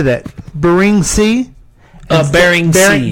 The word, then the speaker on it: Bering: Bering Sea. Bering Sea.